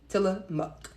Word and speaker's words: Tillamook: tillamook till em up if you're wondering how it's spelled it's smell it looks like book but it's book tiller muk all right let me